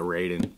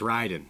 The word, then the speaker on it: Raiden: awesome love Raiden riding probably riding would be the correct way to pronounce it now that I'm thinking about it ra Ryden yeah yeah I call it Raiden but it's riding so and very interesting it's